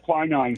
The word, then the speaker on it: quinine: They would soak in tonic water because it contained a chemical called, I think I'm pronouncing this right, quinine or quinine? Yeah, quinine.